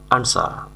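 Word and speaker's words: answer: অনুমতি দেওয়া আনসার এর সঠিক উচ্চারণ হবে আনসার আনসার মানে হলো উত্তর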